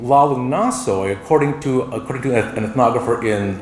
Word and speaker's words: Nathoy: It appears that her first name was really Lalu, L-A-L-U, and last name N-A-T-H-O-Y, Nathoy, pronounced Nasoy.